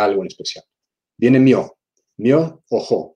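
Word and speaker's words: 妙法: Myo o ho. Son dos palabras, pero se pronuncia myoho.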